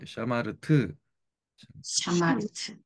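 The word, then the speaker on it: שָׁמַרְתְּ: 샤마르트 이렇게 좀 그래서 샤마르 이게 알 발음이라서요 혀를 꼬아 주셔야 돼요. 샤마르트 샤마르트.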